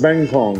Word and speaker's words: kangkong: Apparently, I've been saying it wrong. It's Kangkong.